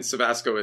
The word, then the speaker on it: Cevasco: And Cevasco is spelled Cevasco. Yeah, no R. There's no R. No, everyone wants to put an R in my last name, but it rhymes with Tabasco.